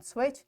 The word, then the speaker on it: switch: So in this way, we achieved our today's SLO, that is to pronounce and practice more words with silent letters such as T in switch and G in high.